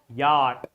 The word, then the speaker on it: yacht: Y Y Y Y for yacht not yacht or any other pronunciation you you may have. But this is Y C and H both letters are silent.